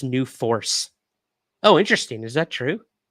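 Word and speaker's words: NUFORC: Robert says it's not pronounced New Fork. It's pronounced New Force.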